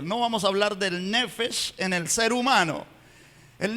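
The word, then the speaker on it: נפש: Miren en la parte superior, así se escribe en hebreo, nefesh, así se pronuncia.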